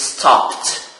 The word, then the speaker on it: stopped: So this verb ends with the voiceless sound p. So the pronunciation is stopped.